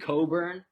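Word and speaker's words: Cockburn: then they have kofi coburn um his name looks like it's pronounced the other way but it's not robbie stop smirking guys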